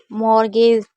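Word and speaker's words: mortgage: भी बता दूं कि ये कुछ ऐसी वर्ड मीनिंग है जहाँ पर टी हमेशा साइलेंट रहता है, लेकिन ये टी के साथ सी एच नहीं है, लेकिन इसमें हम भी टी को नहीं पढ़ेंगे।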